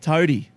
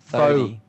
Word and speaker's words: Thodey: All right, Toady. No, what is it? Thodey.